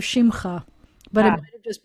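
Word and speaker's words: שמך: And I thought you said simcha instead of shimcha, but it might have just been my speakers.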